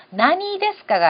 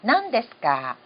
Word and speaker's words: 何ですか: 읽는 방법은 나니라고 읽습니다. 그런데 이게 뒤에 나행이라든가 나행이 이어졌을 때는요. 나니 데스까가 아니라 난 데스까. 그 다음에 무슨 책입니까? 난노 혼 데스까? 이럴 때도 나니노가 아니라 난노 하는 식의 낭으로 읽힙니다.